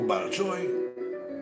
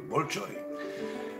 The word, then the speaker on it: Bolchoï: Nous avons encore de stock au Bolchoï, c'est comme ça que prononcent les Russes, donc le Bolchoï, des quantités de costumes de toute taille qui ne sont plus utilisés.